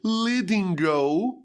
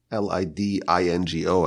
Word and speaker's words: Lidingö: And indeed, in a very beautiful suburb of Stockholm, a place called Lidingö, and it's spelled with like symbols on top of the letters. You've seen that in foreign languages. Lidingö, Lidingo.